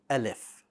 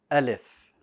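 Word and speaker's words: ألف: say along with me alif alif one more time alif good now the alif needs to be light all right it needs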